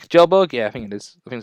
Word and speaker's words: Kjellberg: pretty cool dude PewDiePie playing Minecraft I'm Felix Kjellberg it's Kjellberg yeah thing this thing say you say I